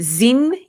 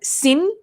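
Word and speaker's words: Xin: and it's actually for you is it zing yup x i n do i pronounce it zin is it zing oh sen okay so it's sin yap is for you she said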